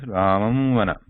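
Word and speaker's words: रामं वन: So how it sounds is Ramam vana. Ramam vana. So there is no complete pronunciation of ma word here. And the sound is supposed, the Anusvara sound is supposed to come completely through the nose, passage of air through the nose.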